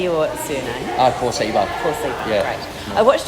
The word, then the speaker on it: Korceba: Korceba.